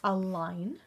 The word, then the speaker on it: align: word look at that there's a silent letter there online the G is is silent a line and then we actually